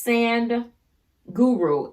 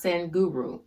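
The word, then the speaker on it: Sadhguru: name on youtube is send guru s-a-d-h-g-u-r-u s-a-d-h-g-u-r-u i believe it's pronounced sen guru there was one video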